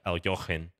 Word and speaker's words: Alekhine: champion Alexander elakain and I know there are various pronunciations of his name I'm kind of saying it uh the way that I grew up saying it but uh you can if you want to Google and uh look for the correct pronunciation it's a little closer to like El jochen as far as I understand but please don't uh